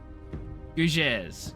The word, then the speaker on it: Gougères: The second G in Gougies is pronounced like the S in measure. Gougeur? Gougeurs? Fudging... What the fudge is this word? Gougeurs. Gougeurs. Is it Gougeurs? Gougères.